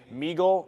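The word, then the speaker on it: MEGL: I got out of megal Meagle which however you pronounce it Meagle that's how you pronounce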